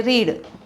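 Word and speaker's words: read: म्हणजे past participle रेड उच्चार महत्त्वाचा आहे स्पेलिंग तेच आहे रीड रेड रेड स्पेलिंग बदलत नाहीये तिन्ही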